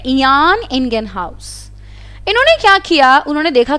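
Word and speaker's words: Jan Ingenhousz: इनका नाम था, इसका प्रोनाउंस थोड़ा इस तरीके से किया जाता है, इयान इंगेनहाउस।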